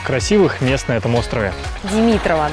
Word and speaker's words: Димитрова: Бухта Димитрова – одно из самых красивых мест на этом острове. Димитрова, да? Только не говори об этом местным, потому что они называют эту бухту Димитрова.